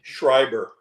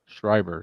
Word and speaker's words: Schreiber: do you say his last name again Le shriber shriber see see John is he I always kept